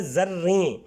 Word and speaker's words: زریں: بھی لگا سکتے ہیں۔ زریں، پہلا لفظ ہے زریں، زے پہ زبر آئے گی، رے پہ شد آئے گی اور اس کے نیچے